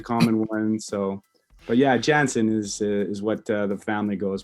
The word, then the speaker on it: Janzen: Oh yeah, the correct pronunciation would be Jansen. Yeah. I mean, if you want to go back to the Mennonite root, it would be Janssen. And that would be, so that's the German version of it.